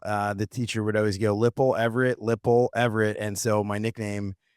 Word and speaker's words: Lippel: Yeah, it's Lippel.